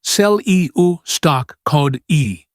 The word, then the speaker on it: Celia Stoccati: Celia Stoccati, pronounced Cel-E-U stock code E.